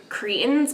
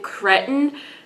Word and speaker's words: cretin: the fans cretins, but he pronounced it cretin. And the only thing that went through my head was that one scene from Monsters Inc. I'm gonna put it up. Okay, first of all, it's cretin.